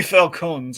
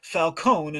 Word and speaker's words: Falcone: sorry we have three Falcons ladies and Gentlemen let's get out the flow chart okay and that one's John dumb but he is pronounced Falcone and not falcon anyway so uh no